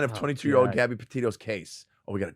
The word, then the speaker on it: Petito: Gabby Petito's case. Oh, we got a timeline, baby. Petito, I said it right.